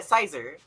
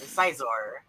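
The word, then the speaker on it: Scizor: Yeah, Sizar. Interesting. Sizor. Yeah, I usually pronounce it like Sizar or Sizor. Because the Psy sound.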